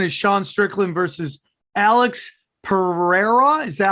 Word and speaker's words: Pereira: the next one is sean strickland versus alex pereira is that how you pronounce it yes now this guy's super interesting